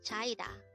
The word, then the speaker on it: 차이다: as a tree syllable word the Crystal Voice pronounce it with me chaida so where China is actually a verb which means to be dumped or to be kicked again chaida is over which means to be dumped or